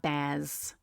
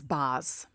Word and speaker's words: Baz: It's not Baz. With my bad New York accent, it's Baz.